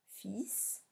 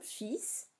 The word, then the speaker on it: fils: Temps, fils, compter, femme. Attention, fils, donc c'est l'enfant et non pas fil, comme le fil à coudre par exemple, donc le L ne se prononce pas.